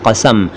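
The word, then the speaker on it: क़सम: कसम को कई लोग कसम कहते हैं, कसम न कहें, कसम है कसम। तो संगमरमर में समाये हुए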